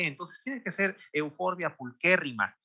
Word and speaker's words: pulcherrima: pulcherrima no se pronuncia pulcherrima porque la che, pues en latín se pronuncia como que, entonces tiene que ser Euphorbia pulquérrima, y porque además hay esdrújulas y graves, ¿no?